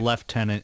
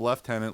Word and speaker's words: lieutenant: to sub Lieutenant Lieutenant pronounced left tenant if you're British oh you say left